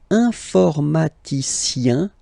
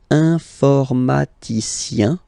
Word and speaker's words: informaticien: All right, and the last group is IEN, informaticien, yin. So that's the way to pronounce this IEN, yin. Okay, informaticien.